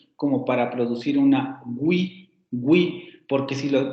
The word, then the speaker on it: oui: Por eso en francés escuchamos esta pronunciación oui, con ese fonema inicial excesivamente marcado. Oui. Vamos a algo así, aunque recuerden que no es una G porque hay que redondear los labios, y tampoco la parte posterior de la lengua se acerca tanto al velo como para producir una